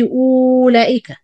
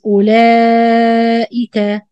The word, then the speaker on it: أولئك: أولئك, as you see, the واو with round zero, we don't pronounce it, it's not exist. So short همزة, don't say أولئك. It's أولئك, the واو not exist,